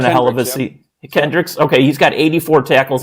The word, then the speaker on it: Kendricks: you take a look at their defense Eric Hendrick is that how you say his name he's having a hell of a SE Kendricks okay he's got 84 tackles at the linebacker